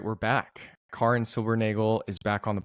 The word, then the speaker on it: Karin: I called you Karin the whole time on the podcast, and you were nice enough not to correct me. I'm sure you potentially get that a lot, but I will call you Karin from now on because that's how you pronounce